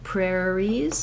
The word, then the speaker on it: prairie: The letters IE say the E sound, prairies, prairies. If it's singular, it just sounds like prairie.